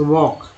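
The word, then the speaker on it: walk: उसके बाद LK से क्या बनाएंगे, जैसे वॉक, WLK, ये जो है साइलेंट लेटर वाले जो है कॉन्सोनेंट के दो वर्ड्स हैं। एल जो है वहाँ साइलेंट है, वॉक।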